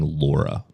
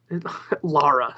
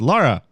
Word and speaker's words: Lara: You got to stop saying Laura. Lara, there sorry.